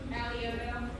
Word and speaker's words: Alioto: I'm sorry, it looks like Aliyito, right? How do I pronounce that? Alioto. Yes, Alioto is correct.